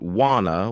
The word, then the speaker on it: wanna: Others pronounce it wanna with more of an o sound.